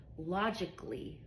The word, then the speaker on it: logically: Basically another example logically. Logically when you're using your mind right logically I don't hear the a after the c.